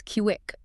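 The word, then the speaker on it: Kiuic: Which brings us to a forgotten Maya town identified in our sources as Kiwick, spelled K IUI, but pronounced Kiwi, right?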